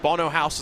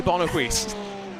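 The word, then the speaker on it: Bono Huis: saying it wrong and he confirmed that Bono house is the way to say it but guess what people still say bonoquist it'll live on forever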